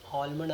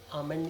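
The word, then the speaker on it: almond: बादाम को आलमंड कहते आमंड इसको पढ़ा जाता है एल साइलेंट है आलमंड नहीं है य आमंड है आमंड नॉट आलमंड इट्स आमंड next देखो अब हम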